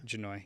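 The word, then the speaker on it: Jahnoy: n o y Lindsay I'm assuming H is silent so janoi yeah janoi Lindsay um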